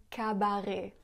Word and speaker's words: cabaret: Elle prononce aussi cabaret au lieu de cabaret.